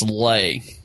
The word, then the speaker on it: Leigh: The mixed reaction we got to one of them is so my last name's pronounced Lay, but it's spelled Leigh.